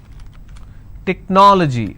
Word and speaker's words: technology: Technology. How many syllables do we have here? Technology. This is the ending. So I leave one, then I go to the next, and I pronounce this as technology.